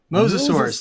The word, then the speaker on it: Mosasaurus: Mosasaurus. Think of your favorite biblical patriarch.